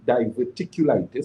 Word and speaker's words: diverticulitis: is a key component people who have difficulty diverticulitis so that's how it's pronounced is are individuals who have serious problems